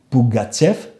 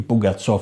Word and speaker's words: Πουγκατσόφ: υπόθεση του λαού», Ρωμανόφ, Πουγκατσέφ ή Πουγκατσόφ όπως το προφέρουν, Πεστέλ.